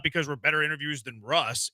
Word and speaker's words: Ross: Yeah, whenever you put in Russ Tucker, spell it R-O-S-S. Yeah. Like Ross. It's Russ. It looks like Ross.